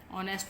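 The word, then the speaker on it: honest: में K silent है, ऑनेस्ट में H साइलेंट है, ठीक है। तो फिर हम इन सेकंड लेटर को देखते हुए आ और एन का यूज़ करेंगे। जैसे एन ऑनेस्ट girl, a rapper, a knife, N आर।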